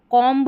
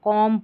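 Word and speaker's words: comb: देखिए यहां पर इसको कॉम्ब नहीं पढ़ना है। कॉम्ब पढ़ना है।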